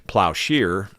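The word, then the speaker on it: plowshare: I'm pretty sure and it's a plow share or you know it's spelled s h a r e but all the people I ever knew always called it a plow Shear um so it's spelled share though but whatever doesn't matter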